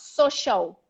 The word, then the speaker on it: social: is social social social this a here becomes if it's easier for you it can almost become a no social you know it's a tip it's not a very open ah so shout all right